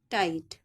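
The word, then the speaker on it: tight: एच टी नाइट टी आई जी एच टी टाइट ठीक है आगे चलिए जब आई के बाद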